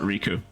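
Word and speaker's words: Rikku: So she does pronounce it Riku.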